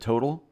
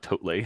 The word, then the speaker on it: Totle: Total, is that how they say it? Total. Yeah, it's total, not Totle.